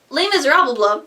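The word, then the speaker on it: Les Misérables: Do you hear the people pronounce that name incorrectly? Now, Les Miserables has claimed 3 Tony nominations this year, including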